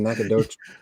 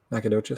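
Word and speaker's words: Nacogdoches: Is it Nakadoc? How do you How do you pronounce Nakadocious? Nacadocious.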